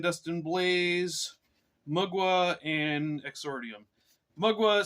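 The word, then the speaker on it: Mgła: Blaze mugwa and exordium mugwa spelled mgla or it's not not really an L it's some kind of Polish character I guess uh I've heard it's pronounced mugwa so if I'm wrong please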